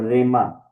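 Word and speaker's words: ῥῆμα: और रेमा, ये रो के ऊपर जब रफ ब्रीथिंग आता है तो उसका हम उसको सिंपली हम प्रोनाउंस करते हैं, हे के साथ नहीं करेंगे, ठीक है। रे, इसको रेमा ही बोलेंगे, हे नहीं बोलेंगे।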